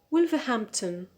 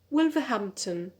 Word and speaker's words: Wolverhampton: cheese ah number four wolverhampton wolverhampton so here because the stress the primary stress is on ham so we need another stress which is a secondary stress on the first syllable which is uh number